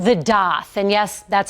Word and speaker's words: daith: the Year we're talking about it's called the doth and yes that's how piercing artists say it's pronounced some people who suffer from chronic migraines